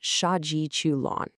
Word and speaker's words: 杀鸡取卵: Shaji Chu Lon. We pronounce that Shaji Chuon.